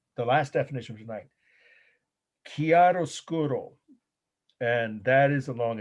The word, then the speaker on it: chiaroscuro: once this word the last definition of tonight chiaroscuro and that is a long italian word so here we go i'll spell it slowly once c h i a r